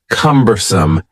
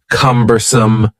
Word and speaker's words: cumbersome: next word is cumbersome the word cumbersome has three syllables and the stress is on the first syllable cumbersome cumbersome something that is